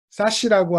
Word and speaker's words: SASE: 엣지 같은 와 해서 싸 시라고 하는 있는 방법까지 저 에세이 를 읽을 때는 싸 시라고 읽어라 라고 하는 발음까지 가르켜 주면서 편히 먹을 하나 만들어